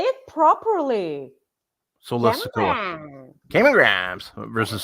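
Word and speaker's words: Solo Sikoa: Sola Sikoa. Cameron Grimes versus Sola Sikoa for the North American Championship.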